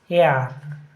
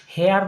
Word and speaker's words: heir: Dash our, তাহলে এইটা an hour হবে, ওয়ের মতন উচ্চারণটা হচ্ছে। তারপরে কি ড্যাশ এয়ার, এইটা এয়ার মানে হচ্ছে উত্তরাধিকারী, হেয়ার লয় HEIR, কিন্তু HEIR হেয়ার মানে হচ্ছে উত্তরাধিকারী, হেয়ার নয় কিন্তু এয়ার হবে।